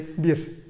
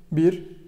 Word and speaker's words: bir: I know there's a little whistle when we pronounce it, but you can pronounce it like bir, bir, bir. It won't bother anyone and nobody will try to correct you or anything.